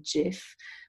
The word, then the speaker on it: GIF: composer by the way steve pronounces it with a soft g so jiff but i prefer gif